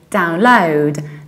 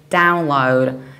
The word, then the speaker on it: download: accent English you speak because of the British accent we say download download through stress the second syllable download however in the American accent we do something totally opposite and we say download download so we stress the very first syllable download sometimes although very early